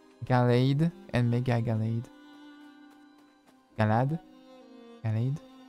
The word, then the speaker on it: Gallade: Galad. I guess Galad because also it has Gardevoir. I think it's Galad because it has blade arms.